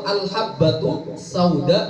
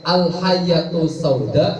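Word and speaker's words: الحبة السوداء: hadis nabi Alhamdulillah sebenarnya yang benar itu Al habbatu Sauda sifat batu titiknya satu mungkin karena bukunya sudah lama akhirnya tidak terlalu jelas jelaskan terus itu mal Hakim ini cara bacanya bukan Al habbatussauda dibacanya apa Al hayatu Sauda Syifa akhirnya dia memahami bahwa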